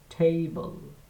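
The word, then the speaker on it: table: টেবল আমার সাথে উচ্চারণ করার চেষ্টা করেন। টেবল টেবল।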